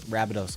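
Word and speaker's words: Rabbitohs: i like the team i know how to say it it's rabbidos i get it it's the rabbits it's the south cindy rabados i get it i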